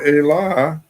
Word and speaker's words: e: The letter E is like a pronoun, all right? So E means the. So the word Allah is an elision of A. The letter E is pronounced A in Yoruba.